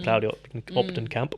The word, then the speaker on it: Claudy Kamp: Claudy Kamp. Am I pronouncing that correctly?